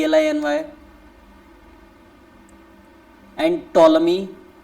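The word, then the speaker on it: Ptolemy: आई एन वाय एंड टोलमी टोलमी की spelling बोलना बिल्कुल है टोलमी पी टी ओ एल ई एम वाय पी टी ओ एल एम वा इसको टोलमी बोलते हैं हा टोलमी मेंशन द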